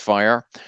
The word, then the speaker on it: FHIR: producing a fire adapter so fhir is pronounced fire so for those folks